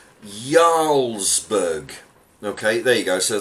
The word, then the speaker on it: Jarlsberg: last week English heart says its core is pronounced Jarlsberg okay there you go